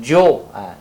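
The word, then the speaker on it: 九: We pronounce it Jiu. Chinese pronunciation.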